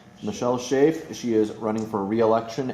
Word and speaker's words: Shafe: Is your last name pronounced Shafe? Shafe. Michele Shafe.